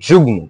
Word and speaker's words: যুগ্ম: এটা তোমাদেরকে মনে রাখা লাগবে, কিছু ক্ষেত্রে ময়ের উচ্চারণটা বজায় থাকে, যেমন কি যুগ ম, ম উচ্চারণ হবে।